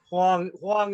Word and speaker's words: Huang: And it'd be do you pronounce your last name Wong or Wang? If we did, oh, yeah, that'd be good. Huang is the way I do it, but I'm not picky on the pronunciation.